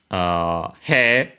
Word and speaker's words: 兵: He, or hey, if you still pronounce e as they are instead of long e, like usually is the case in standard Japanese nowadays. Accent regardless, because yeah, either long e or diphthong, the accent is on the first molar.